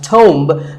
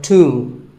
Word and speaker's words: tomb: It's often wrongly pronounced as tomb, but the B is silent and the O is pronounced with an oo sound. So tomb. A tomb is a place